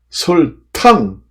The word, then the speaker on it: 설탕: 탕 이렇게도 도움이 됩니다 그래서 설 설탕 할 때는 그게 설탕 이렇게 발음이나요 그게 당 탕 이렇게 도금이 두 개로납니다 그래서 눈설자 그 다음에